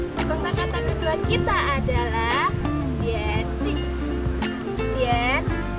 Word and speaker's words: 点心: Kosa kata kedua kita adalah Tian Cik. Tian, cara bacanya Tian, Tian, bernada 3. Kemudian Cik, bernada netral.